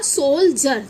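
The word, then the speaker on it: soldier: लेकिन जैसे ही आई इ आर जुड़ गया इसके साथ ऐड हो गया तो आपने इसे क्या पढ़ा सोल जर तो डी की वॉइस क्या निकली ज निकली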